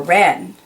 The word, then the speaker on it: wren: five W is for wren the wren wrapped the rabbits gift in red but forgot to write a note you have some silent W is here W but you really say Wren and the same goes